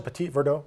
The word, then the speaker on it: Petit Verdot: the Petit Verdot and is that how you pronounce it Petit Verdot that's exactly what you pronounce it yes I